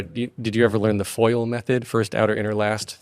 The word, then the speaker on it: FOIL: So they called it the FOIL method. And in the South, it's FOL. Like, it's pronounced F-O-L-E, FOL. Like oil is ol, fire is far, you get different dialects.